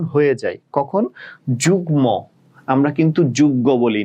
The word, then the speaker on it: যুগ্ম: বাট এই একটা ব্যতিক্রম রুলস যে মাঝে মধ্যে মফলার উচ্চারণ হয়ে যায়, কখন? যুগ্ম, আমরা কিন্তু যুগ্ম বলি না, যুগ্ম, যুগ্ম সাধারণ সম্পাদক, ঠিক আছে, তো যুগ্ম বলি, ঠিক আছে।